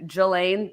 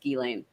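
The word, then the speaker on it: Ghislaine: elaine elaine yeah and like i was saying jillaine like for the month leading up to it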